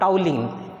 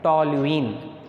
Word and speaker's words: toluene: to the benzene ring you will get toluene not toweling it is to be pronounced as toluene how do you prepare